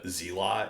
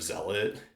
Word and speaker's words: Zealot: The other thing I've done a lot in my life is um like uh I grew up saying uh Zeot instead of Zealot is like uh like